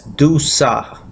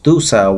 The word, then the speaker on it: Dussah: birth to a son who was named as Dussah, D-U-S-S-A-H. You can pronounce it, Dussah.